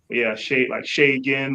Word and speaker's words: Segun: Segun, like what's shaking?